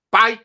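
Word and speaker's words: pait: Tromoj pípia vyhazovat odpadky, pite long market. Pite znamená fight. Oni nejsou schopni vyslovit F, čili místo F vyslovujou P.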